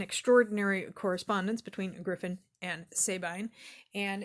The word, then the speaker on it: Sabine: It is Griffin and Sabine, or Sabine, but I believe I've always heard it pronounced Sabine in this context.